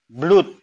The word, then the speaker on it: blood: O dibaca U. Ini O. Blood. Ya kan? Banyak di bahasa Inggris itu seperti ini. O di dalam door, bacanya door. O di dalam blood, ya bacanya blood.